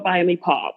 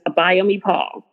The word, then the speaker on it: Abayomi-Paul: My whole name is Abayomi-Paul, but it's usually easiest to find me if you write in Writes to everything.